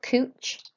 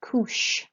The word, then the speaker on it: couche: And then this is not couche, it's couche. So a CH is like an SH sound in English.